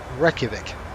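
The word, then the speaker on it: Reykjavík: much sunlight during the winter wreck that's it Reykjavik thank you I can't even pronounce my own name so some of these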